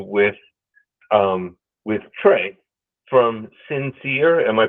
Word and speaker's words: Sin Seer: liony radio's interview with um with Trey from sinere am I pronouncing that correctly sinere yes sir that's correct so just for everyone